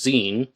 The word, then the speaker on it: Xen: His name was Xenophone and he went by the nickname Zen spelled XE and but pronounced Zen from what I've gathered.